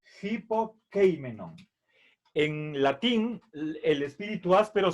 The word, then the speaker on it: hypokeimenon: Por lo tanto, al momento de pronunciar en griego esta palabra, tenemos que hacer un sonido, es aspirar la Y, como si pusiéramos una J delante de la Y. Por eso es hipokeimenon.